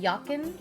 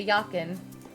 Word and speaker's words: Jochin: Try pronouncing Jochin like Yakin. Oh, okay, Yakin.